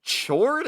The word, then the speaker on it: Chord: so she goes to Chord Overstreet's ski lodge. Also, you pronounce it Chord? It's not. I don't know. I assume it's chord, like mute. Yeah, like a music note.